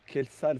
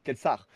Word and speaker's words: Kelsar: Dans le cas de Eshain et Kelsal, c'est bien ça? C'est bien ça, j'ai bien prononcé? Kelsar.